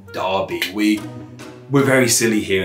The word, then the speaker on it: Derbyshire: but the spellings didn't it's why someone like uh derbyshire is spelled d-e-r-b-y should be like div even though we pronounce it darby we we're very silly